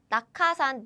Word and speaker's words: 낙하산: 낙하산, this is how native Korean people speak.